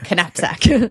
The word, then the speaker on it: knapsack: So it would be knapsack.